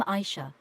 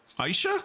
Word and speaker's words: Aishe: I've been pronouncing that wrong for years. I always thought her name was Ash. Aishe? Okay, fuck. Years, I've never pronounced her name right.